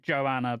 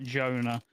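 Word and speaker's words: Joana: not Joe it's spelled Joanna but it's not it's like Jonah so it's actually a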